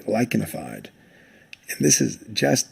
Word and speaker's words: lichenified: The CH here is pronounced like a K, lichenified.